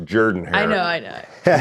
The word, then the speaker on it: Jordan-Hare: is traveling to Auburn they are playing at Jordan hair Stadium on ESPN at 6:30 p.m. Texas A&M is favored by two and a half points it's actually pronounced Jordan her I know I know spell I'll go I'm